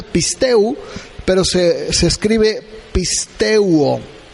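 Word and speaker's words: πιστεύω: es una palabra griega que se escribe pisteuo se dice se pronuncia pistu pero se se escribe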